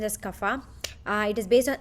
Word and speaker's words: Kapha: movement is fine so and then kappa is pronounced as kapha uh it is based on earth and water